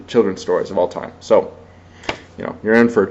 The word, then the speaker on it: Seuss: pendulette is the one that says it's Dr soy that's how it's properly pronounced um I'm not one